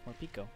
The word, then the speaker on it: Morpeko: How did you pronounce it? Morpeko? Yeah, it's Morpeko.